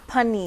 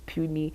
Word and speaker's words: Punny: We used to do polls on our Instagram and ask guys, how do you think it's pronounced? And so many people used to write puny.